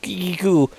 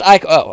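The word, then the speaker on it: ichor: with magical I quarry Kiku that's pronounced iko iko okay well I guess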